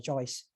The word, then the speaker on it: Joye: you decided to launch Joyce? So, our platform, our application is called Joy, Joye, and it's pronounced just like joy, happiness, Joy.